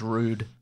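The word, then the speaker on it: Røde: It's pronounced rude. Rude. That's why the O's got the line through it.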